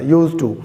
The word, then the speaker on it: used to: यूज टू, तो डी को तो बिल्कुल ना, जो इसका प्रोनाउंसिएशन है, डी को पढ़ना ज़रूरी नहीं है, डी को ना ही पढ़ा जाए तो ही दुरुस्त पढ़ा जाता है इसको।